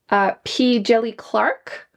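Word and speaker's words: P. Djèlí Clark: A new author for me was P. Jelly Clark. I'm pretty sure this is how you pronounce it. I just listened to an audiobook and that's how they said it.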